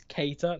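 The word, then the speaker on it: Keïta: pronunciation of a Kaiser apparently it's Keita no it's Keita I'll say it what I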